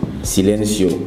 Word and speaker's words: Silencio: Google Play Store et là tu recherches sileno Silencio s'écrit s i l e n C o donc